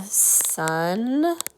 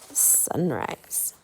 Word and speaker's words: sunrise: Like in sunrise, we don't hear that 3rd vowel, that E, because it's helping the long I make its sound.